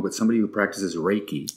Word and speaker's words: Reiki: And then you had, and I may be pronouncing this wrong, but somebody who practices Reiki. Reiki, correct.